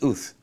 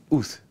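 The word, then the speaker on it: את: Let me tell you what that word signifies and how it is pronounced. It's Uth. Uth.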